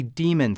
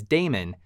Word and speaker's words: daemon: them what's called a demon thread a demon thread which you may also hear pronounced as daemon is a thread that